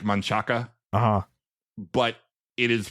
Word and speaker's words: Manchaca: here is spelled like Manchaca. Uh-huh. But it is pronounced wrongly. But as long as I've lived here for 40 years now, it's Manchac. Yeah. Even though it ends in an A.